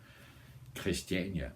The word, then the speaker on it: Christiania: chist christania you know I'm just going to say it like we do in Denmark so don't say it in a wrong way Christiania that's World known very